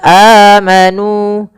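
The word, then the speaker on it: آمنوا: Kemudian pada lafal nu ini, nu kita panjangkan dua harakat dan alifnya itu dianggap tidak ada. Jadi tidak boleh kita lebihkan misalkan amanu karena dia hanya mad thabi'i saja bukan mad yang lainnya.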